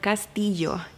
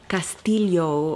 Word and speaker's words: Castillo: castle in Spanish and I know the double arrow is a sound phonetically that is very difficult to pronounce if you mainly are an English speaker so you would probably want to stay like castile yo or something like that but Castillo Castillo beautiful